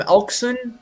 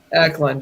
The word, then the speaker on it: Eklund: I think they can go after left winger William Elkson. If I'm pronouncing that name. Oh, Eklund, rather. Eklund, yes.